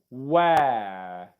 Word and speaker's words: where: Where, that's the diphthong, where.